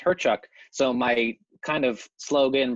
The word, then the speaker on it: Hyrchuk: into a microphone and my last name is pronounced herchuk so my kind of slogan branding is how